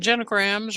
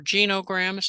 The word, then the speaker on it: genogram: Mind mapping and genograms, or genograms as some pronounce it, are two tools that are a little off the beaten path.